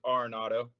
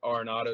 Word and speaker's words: Arenado: Last name's Arenado. You can call it whatever you want. It's all good. But Arenado is how you say it.